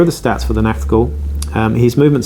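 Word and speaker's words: Nachtghoul: is the incredibly amazing Nachtgul. Yes, I said that right, I think. Nachtgul. I say it like a German, it sounds a bit better, but I've heard people say it in different ways.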